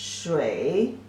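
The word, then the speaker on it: 水: and like this the means water and the pronunciation is Shui Shui Shui Shui means water and so many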